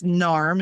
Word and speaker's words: NARMH: can look them up it's narm is how they pronounce it in a r mh.